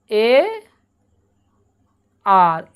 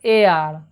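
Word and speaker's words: heir: এই যে রয়েছে এর উচ্চারণ কিন্তু হেয়ার নয়, এ আর, উচ্চারণটা হবে এ আর, এ আর, আর এ হচ্ছে একটা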